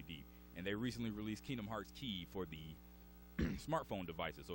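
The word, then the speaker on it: Kingdom Hearts χ: Like most recently, they released a called Kingdom Hearts Key or Kingdom Hearts X. You'll see it pronounced as like Greek X. The letter X is Greek for the word key or something like that.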